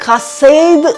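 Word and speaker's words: חסד: वो है खा सेद इसके स्पेलिंग तो होते हैं सी टी एच ई एस ई डी पर इसको बोला जाता है ख सेद तो प्रोनंसिएशन जो है वो इब्रानी भाषा में डिफरेंट होती है सो यहां पर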